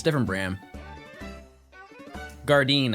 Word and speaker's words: Gardein: Gardein, I believe is how you pronounce it. Gardein.